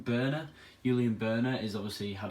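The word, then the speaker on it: Börner: I think is it Berner? I think he said is how you pronounce his name. Berner.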